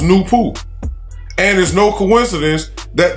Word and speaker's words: Nupu: the first personality is nupu pronounced new pooh and there's no coincidence